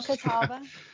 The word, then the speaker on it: Catawba: And apparently it was a brutal battle between Cherokee and I don't know how to pronounce it, Catawba warriors? Oh, Catawba.